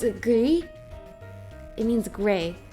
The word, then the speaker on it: Gris: Gris is Ham, but but you want to pronounce the S when it's Grimsley, but you pronounce it silently gri when it's French.